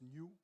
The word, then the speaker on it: NOI: bilingual is also German noi phonetically it's new so we are working